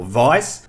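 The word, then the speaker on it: Weiss: the way thank you some of you guys informed me how that should be pronounced and I'm gonna stick with it so it's general vice and if wedges action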